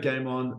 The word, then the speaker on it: GAIM ON: So I created Game On, a super efficient system of journaling where it's an acronym. It's spelled G-A-I-M-O-N.